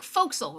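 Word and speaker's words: forecastle: stuff amazes me um the thing that looks like four castle is like foxel right yes people who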